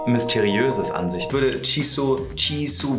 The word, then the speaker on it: Jisoo: Ich würde Jisoo, wie wird die ausgesprochen? Jisoo.